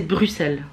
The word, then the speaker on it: Bruxelles: a beaucoup qui disent Bruxelles pourtant pourtant c'est Bruxelles en vrai mais ça s'écrit Bruxelles donc ça se dit pas forcément